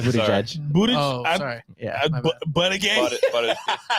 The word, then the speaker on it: Buttigieg: No, it's Buttigieg.